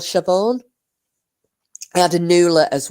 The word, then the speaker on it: Siobhan: Anyway, and I just remember Siobhan, and she went, if that old bitch calls me Siaban one more fucking time.